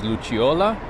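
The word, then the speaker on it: Lucciola: luciola i think that the pr the right pronunciation is luciola l-u-c-c-i-o-l-a alex mandel if you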